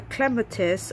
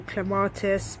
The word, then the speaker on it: clematis: I got a clematis or clematis, people pronounce it differently.